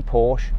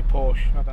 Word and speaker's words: Porsche: How do you say Porsche? I say Porsche. I say Porsche as well. Some motoring journalists say Porsche. That's a girl's name.